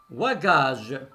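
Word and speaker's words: wagage: maintenant on va voir le w qui se prononce ou exemple hu à gages hu à gages c'est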